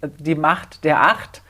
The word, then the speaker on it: die Macht der Acht: It's die Macht der Acht. It's a rhyme, Macht, Acht.